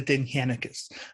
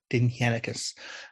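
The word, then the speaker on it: Dindshenchas: Um, they're known as the denhekus. Now that is spelled d i n d h e n cas, but it's pronounced denhekus.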